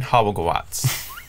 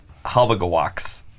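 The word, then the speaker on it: Halbgewachs: Hobblegawatz. Oh, with a V like sound. Hobblegawatz. Yeah. Hobblegawatz. It's a slightly altered pronunciation of the German, which would be closer to what you're saying.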